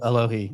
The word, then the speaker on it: Alohi: Alohi, yep.